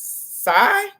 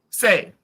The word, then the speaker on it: Sai: Is it Say or Sai? Say. We was definitely calling her Sai all last night. Definitely was calling her Sai. Say. And it's spelled like the weapon side that a lecturer from Marvel, she uses the size, and so that's why I thought Didn't know that. Everyone on that island said Say, and that's when it clicked for me.